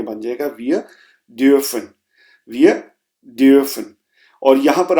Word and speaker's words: dürfen: और यहां पर आप प्रोनाउंसिएशन पे गौर कीजिए, ये डोफन नहीं है क्योंकि यू के ऊपर उमलाउट लगा हुआ है, इसलिए आप थोड़ा सा आवाज को फ्लैट करेंगे, वियर ड्यूफन, वियर ड्यूफन।